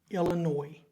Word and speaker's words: Illinois: You're playing a team this week called Eastern Illinois. They have an S at the end of their name that is silent, which can be confusing.